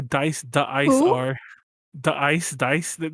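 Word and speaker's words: Da-iCE: Dice. It's pronounced Dice, but the name looks like the Ice.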